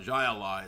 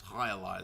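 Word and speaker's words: jai alai: And then there's the highali people were correcting me for I didn't know to pronounce it. It's not Jaai, it's Halai.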